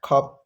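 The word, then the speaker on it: 값: Next है खप। यह है खप्स। इसको यह वाला प्रोनाउंस इसका जो शयत है यह नहीं प्रोनाउंस किया जाए। देखो यह बनेगा खप।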